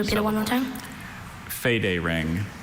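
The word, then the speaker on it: federing: So make sure you get that right vowel sound in the first. Should we repeat it one more time? Fade ring. Fade ring.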